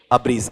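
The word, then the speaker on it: abridge: फिर अगले का उच्चारण बताओ मुझे, उच्चारण क्या बोलो आपका, अब्रीज, हाँ, यह एब्रीज है या अब्रीज, अब्रीज।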